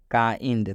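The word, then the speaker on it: kind: कब आना चाहिए तो जब भी आई के बाद एन डी आता है तो इस आई का उच्चारण आई हो जाता है अब यहां पर समझ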